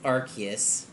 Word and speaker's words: Arceus: Arceus or rks or Arceus and it's it's Arceus if you're wondering about that one and sometimes